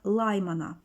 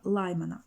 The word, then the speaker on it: Лаймана: цю Це випромінювання називають серія лаймана серія лаймана наголос на перший склад при переході електронів з